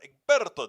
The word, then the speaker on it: Egberto: Egberto, not Egberto, but Egberto, the Spanish pronunciation.